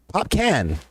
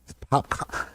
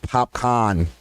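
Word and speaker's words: Popcaan: It's funny when people don't know how to pronounce his name and they're like, Popcan. Because it kind of spells out like Popcan, right? This with 2 A's. Popcorn. And then somebody has to correct them. Popcorn.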